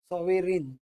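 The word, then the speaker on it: sovereign: आऊट करायला लावले आपल्याला सोवेरीन सोवेरीन उच्चार करायचं पण त्याच्यामध्ये जी स्पेलिंग मध्ये पण ग उच्चार नाही होत सोवेरीन बघा सोवेरीन उच्चाराप्रमाणे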